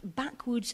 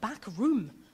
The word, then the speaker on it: backwoods: Camping, cooking, you're doing campcraft, backwoods and outdoor learning. I think I pronounced that wrong, or I called it back room. No, it's backwoods.